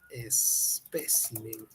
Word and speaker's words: espécimen: termina en ns vocal especime es Espécimen es una esdrújula virgen está bien en